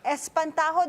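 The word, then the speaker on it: Espantaho: of course entry for the mmff this year Espanto did I pronounce that right yes Portuguese Espanto Espanto what does Espanto mean uh literally I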